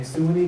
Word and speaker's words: Suwanee: Humbert graduated from the Philadelphia College of Osteopathic Medicine, Georgia campus in Suwanee, Georgia. I think I got it right this time. Swan. That can't be swine. Silent U.